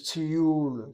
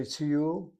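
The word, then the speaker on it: טיול: The word is tiyul, tiyul. You hear people say tiyul, that's emphasizing the first syllable. It's the second syllable that needs to be emphasized.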